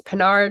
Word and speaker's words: Pinard: That's Pinard like Captain Picard with an N.